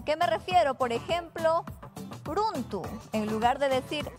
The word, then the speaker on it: runtu: En caso una palabra inicie con la R, su pronunciación siempre va a ser suavecita. ¿A qué me refiero? Por ejemplo, runtu. En lugar de decir runtu con intensidad, lo decimos suavemente.